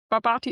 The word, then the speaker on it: Barbati: Ich habe Ihren Namen falsch ausgesprochen, oder? Nein, Nee? nein, richtig, weil Barbati ist richtig.